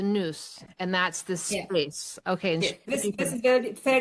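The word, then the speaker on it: nous: You're saying news. N O U S. N O U S. It's the noose and that's the space.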